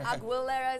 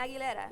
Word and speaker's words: Aguilera: should you know your your last name is hard for certain people to pronounce a you get a lot of aguilera sometimes but I let it slide. You know but I was like no this is my name Aguilera.